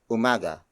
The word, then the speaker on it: umaga: adjective to a noun and that noun is Umaga Umaga hamada whom a guy spelled as you